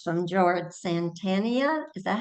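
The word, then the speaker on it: Santayana: It's from George Santania.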